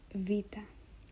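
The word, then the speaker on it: Βήτα: it's a a flat then we have Vita Vita makes the sound Vu it's equivalent to the English v v something you might have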